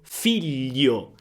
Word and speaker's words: figlio: Gli gli per esempio figlio, figlio, filo, figlio sbagliato, però con una l.